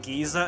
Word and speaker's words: geyser: I always pronounced it geyser. Then I played Xenolade, which is voiced by British actors, and they pronounce it Giza, and I just thought that's so funny.